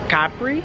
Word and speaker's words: Capri: to Capri tomorrow and how you say it here is Capri so little information for